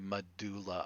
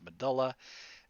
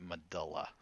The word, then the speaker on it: medulla: is so prevalent that many scientists actually say medulla oblongata now the correct pronunciation is medulla and even among scientists everywhere else in the body outside of the medulla oblongata we pronounce it medulla all right now these are also epinephrine norepinephrine